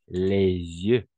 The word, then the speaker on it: les yeux: niveau de la prononciation on va prononcer les yeux d'accord on va faire on fait la liaison les yeux par exemple je vous